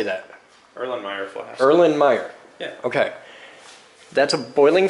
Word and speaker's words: Erlenmeyer: Erlenmeyer.